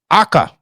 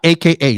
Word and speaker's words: Aka: was your departure from Aka, which is how you say it, not AKA like a lot of people know, but AKA, which means red that I found out from you, right?